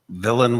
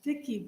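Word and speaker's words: Viki: we also have um villain did I pronounce that right my name is Vicki b-i-k-i okay and I am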